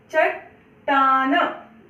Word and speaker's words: चट्टान: जब हम इसको आधा लिखते हैं या आधा जब हम पाई हटा देते हैं या जब हम हलंत का चिन्ह लगाते हैं तो हम उस शब्द का उच्चारण जब करते हैं तो पूरा नहीं करते, है ना। जैसे खट्टी, है ना। चट्टान, ट पूरा नहीं बोला है मैंने, चट्टान।